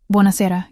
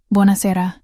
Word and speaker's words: Buonasera: Buonasera, good evening. Buonasera, she repeated. Her pronunciation was terrible. Buona sera, he corrected gently. Emphasis on the second to last syllable.